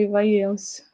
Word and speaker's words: ivaiense: Aí no meu registro eu sou ivaiense, né, vamos dizer assim, acho que é isso que se pronuncia, ivaiense, né? É ivaiense.